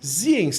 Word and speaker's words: Zienz: Ziens, tá certo assim essa pronúncia?